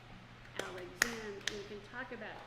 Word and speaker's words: Alexander: talk about the rhythm, like the name Alexander. The stress is on the third beat, and so you would have like a 2/8 note pickup, Alexander, Alexander.